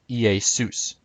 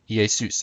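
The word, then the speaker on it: Ἰησοῦς: So in biblical Greek, Jesus would have been pronounced Iesus, Iesus. Again, the accent is on sus.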